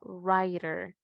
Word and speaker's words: writer: Y por último, la W, cuando no la vamos a pronunciar. Recuerden que todas estas letras sí poseen sonido en ciertas palabras, pero en estas no, ¿verdad? En estas van a ser una silenciosa, van a actuar como letras silenciosas. Entonces la W en escritor no la vamos a pronunciar, entonces vamos a decir, it's a writer. He is a writer.